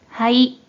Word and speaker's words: 肺: 먼저 뜻으로는 발음이 없고 음으로만 はい、 라고 발음해줘요.